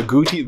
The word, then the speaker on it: agouti: No, it's not a, there've been a lot of people out there getting kind of wrong ideas how to spell this, how to pronounce this. It's actually agouti.